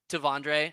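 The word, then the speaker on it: T'Vondre: Tavondre.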